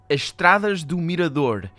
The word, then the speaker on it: Estradas do Mirador: The Transkatla Magistral U41A, which is, I assume, this one in particular, as Estradas do Mirador. That depends. That would be the Brazilian version, most likely, because she is Brazilian as far as we can tell.